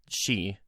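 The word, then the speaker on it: 四: 4 is an unlucky number in Japan because the number 4 is pronounced she, and that is the word for death in Japan.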